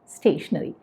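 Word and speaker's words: stationery: ഒരു അക്ഷരത്തിന് വ്യത്യാസമേ ഉള്ളൂ ആദ്യത്തേത് പറയുന്നത് സ്റ്റേഷനറി രണ്ടാമത്തേതും സ്റ്റേഷനറി അതായത് ഉച്ചാരണം ഒരേപോലെയാണ് അപ്പൊ മുൻപേ ഞാൻ പറഞ്ഞില്ലേ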